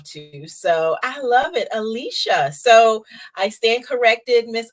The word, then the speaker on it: Alyssa: or how it's spelled I say Alicia like it has an sh in it okay okay I like that I like that Alicia yes I love that